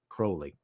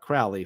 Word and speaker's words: Crowley: why I bring up Aleister Crowley and it's pronounced Crowley and not Crowley from what I remember correctly is that at